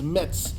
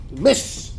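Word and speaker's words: Metz: I was want to to sh somewh I pronounced the city as Mets some was there from France he starts laughing you not M mess mess mess kind of mess is not M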